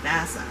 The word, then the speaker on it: Vassa: the preludes and interlude we learn about vassa that's how you say her name vasa her mom has died